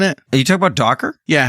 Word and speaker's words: Docker: that's involved in it are you talking about Docker yeah how do you spell that d o c k e and say it again Docker yeah it's I didn't say it right first